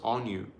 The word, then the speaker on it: Anu: notice the first name Anu it's actually pronounced on you so the Anu Elohim